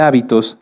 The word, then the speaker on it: hábito: muchas definiciones de hecho si cambiamos el acento de la palabra hábito lleva acento en la a se refiere a esto a nuestras costumbres y si lo cambiamos hacia el final es habitó que viene de habitar fíjense que có en